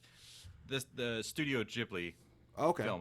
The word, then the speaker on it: Ghibli: mean maybe uh Studio it was a Ghibli is how you pronounce it I'm I'm an anime novice by the way um Studio Ghibli like that people love